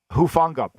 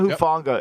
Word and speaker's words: Hufanga: on his intelligence and being aware I thought Huff Ghana how do you say that femi ufanga I thought hufanga is you know he's so reminiscent of palomoa